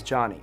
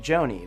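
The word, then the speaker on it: Jony: mispronouncing names for example my name is Johnny spelled j-o-n-y and it's normal for someone to pronounce my name like Joni but if I were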